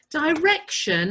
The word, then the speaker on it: direction: Direction has that shun sound, but it's spelt with a T-I-O-N.